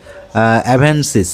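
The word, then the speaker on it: Avenis: এভেনসিস এটা হচ্ছে সুজুকির। ঠিক আছে? এটা নামই আমি উচ্চারণ করতে পারতেছিলাম না।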